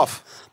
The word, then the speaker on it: PAF: Is it pronounced PAF Studio? Puff.